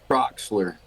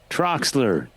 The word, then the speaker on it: Trachsler: Like if it's like Brock's candy, but you change the B to a T, so Trox, and then put an LER on the end.